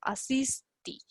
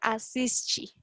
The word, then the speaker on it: assiste: como, por ejemplo, más, como más rurales, lo pronuncian así, asisto, asisti. Mas como nós estamos aprendendo o sotaque, acento, sotaque, do Rio de Janeiro, de São Paulo, então vamos pronunciar assiste, como a Valesca falou.